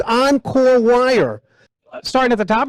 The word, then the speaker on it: Encore: Paul works and and and and the correct pronunciation is Encore Encore so it's oncore wire starting at the top here this is